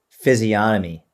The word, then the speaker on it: physiognomy: Physiognomy. It's got a G in there, right? Yeah, but the G is silent, apparently. Okay, cool. Physiognomy, a person's facial features